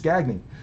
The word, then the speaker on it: Gagne: to break 80's stuff mispronounce his name and i'm like no no it's you're you're trying to be too smart it's gagging interesting because like the